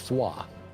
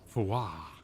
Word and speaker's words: Fuoth: Fuoth is pronounced Foie. Cool. Foie.